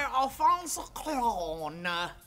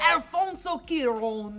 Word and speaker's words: Alfonso Cuarón: This movie was directed by Alfonso Cuarón. That is the only way to pronounce it. Alfonso Cuarón.